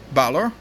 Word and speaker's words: Balor: The easiest way for this to work is for 2 of the winners to automatically be on Balor, which I think is a closer pronunciation to the correct Celtic pronunciation.